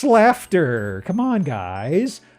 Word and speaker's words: Slaughter: No, it's not slaughter. It's pronounced slafter.